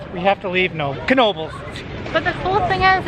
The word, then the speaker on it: Knoebels: it wrong all day it it is Knoebels it's not novels so sorry about that